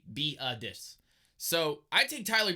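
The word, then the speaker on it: Biadasz: center Tyler beetus and that's actually how you say his name beetus it's got an H a silent H at the end it's B EE aah d I SH but you're gonna say be a dis so I take Tyler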